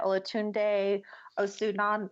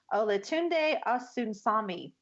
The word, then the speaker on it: Olatunde Osunsami: But I also wanted to point out that this was directed by Olatunde Osunan. Oh, let me say that again. Olatunde Osunsami. Ooh, I said it right.